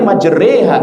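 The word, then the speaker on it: مجريها: Ada e hanya ada satu keadaan di surat Hud bismillahirrahmanirrahim re ha wa mursala. Itu saja, selainnya enggak ada. Jadi kalau i, bacanya i. Kalau u, bacanya u, jangan o. Kalau a, bacanya a, jangan e. Ya, kecuali majreha, itu saja e.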